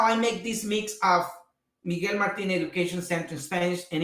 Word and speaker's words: Miguel Martin: it has my name which you have to pronounce it in spanish miguel martin but what follows is